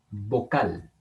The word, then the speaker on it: vocal: Vocal también tiene el acento en la última sílaba.